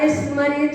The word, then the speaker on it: स्मरेत: तो इसका उच्चारण हम जब करेंगे तो यहाँ पर बोलेंगे यह स्मरेत, या स्मरेत नहीं बोलना है। ये जो भी बोलते होंगे वो गलत है।